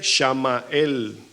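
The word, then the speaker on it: שמואל: sorprenda con el tercero el nombre Samuel se escribe shamael y significa el que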